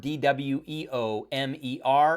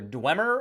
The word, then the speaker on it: Dweomer: you pronounce the word D-W-E-O-M-E-R. It's either Dwemer or Dwemer, not Dweomer. Maybe it's Dweomer, but most of the sources I looked at said that it is Dwemer. So if you said Dwemer or Dwemer, you probably wouldn't be wrong.